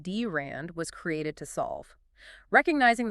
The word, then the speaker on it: drand: That is the precise trust problem that the DRN network pronounced DRAND was created to solve.